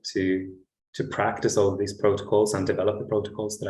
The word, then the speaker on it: protocol: the group but uh protocol i think the emphasis is on the first o and the prefix proto